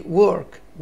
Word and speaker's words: work: عندي work، work يعني ايه؟ عمل. لاحظوا حبايبي ان ال W O في اللغة الإنجليزية تتنطق و، work، work، لكن ال W